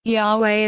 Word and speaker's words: Yahweh: in the Hebrew Bible Yahweh is the pronunciation most widely accepted by hebrew scholars the name may be